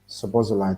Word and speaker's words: Szoboszlai: Sabozalai. That's definitely Sabozalai. Have you noticed I can say his name so well? I thought it was Szoboszlai.